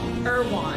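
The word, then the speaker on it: Erewhon: If this was sold at Irwin, how do you pronounce that grocery store? Irwan.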